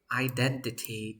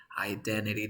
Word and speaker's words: identity: two number three yes how do we pronounce identity in English identity do you know identity identity because you drop this tea and then you have an r and you say identity identity that's amazing rule number